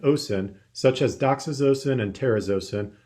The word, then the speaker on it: terazosin: such as doxazosin and terazosin also pronounce terrazasin example beta blockers include